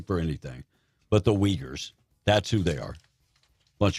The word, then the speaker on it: Uyghurs: Texters are saying that's pronounced Uyghurs.